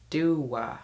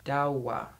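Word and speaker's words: Doğa: And she says, my name is Dogga, and it's pronounced like Dua, Dawa. But you can call me Dogga anyway.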